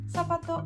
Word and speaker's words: zapato: In Spain, it is going to sound F, but in Argentina, we're going to pronounce it also as an S.